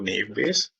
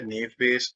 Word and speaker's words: naive Bayes: So in this video, we're going to look into naive Bayes. You can pronounce it either naive Bayes or naive Bayes. It's up to you.